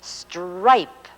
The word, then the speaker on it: stripe: and it says S-T-R-I-P-E, stripe. The E tells the I to say its own name, and so we have stripe.